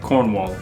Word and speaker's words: Cornwall: it exactly right, but that's because we don't pronounce R's the same way. British people tend to be a lot softer on the R's and kind of even drop R's altogether. American English does really accentuate syllables. We say them very strongly. Like we would say Cornwall, but a British person might say Cornwall.